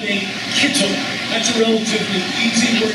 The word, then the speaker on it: kittel: The white robe is called a kittel. That's a relatively easy word to pronounce in Hebrew. It's got pretty much English phonetic sound to it.